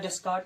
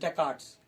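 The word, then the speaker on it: Descartes: जो स्पेलिंग है ना, that's like डेस्कार्ट्स, बट इट इज नॉट डेस्कार्ट, इसकी जो प्रोनाउंसिएशन है दिस इज डेकार्ट्स, डेकार्ट्स मेथड।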